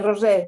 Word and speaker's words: Roser: pronouncing your name Rosser or Roser? Sí, Rosé, sí, Rosé. Rosé.